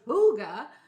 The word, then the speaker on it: hygge: those old trucks there we go so it's hygge hygge means cozy and danish oh there you